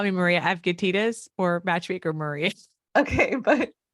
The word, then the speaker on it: Avgitidis: You could just call me Maria Avgitidis or Matchmaker Maria.